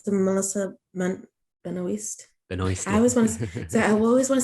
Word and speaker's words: Benoist: Benoist. I always want to say, Benoit, and I know you said that's the French pronunciation or something.